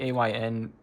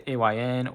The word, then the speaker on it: AYN: I called it the ionthor. I guess it's the ayn or how would you say it?